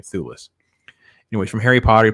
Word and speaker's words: Thewlis: I think it's how you say his name, Thewlis.